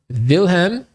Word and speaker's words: Wilhelm: his name is gottfried wilhelm yes that's a v because in germany w is pronounced as v lightness okay here's a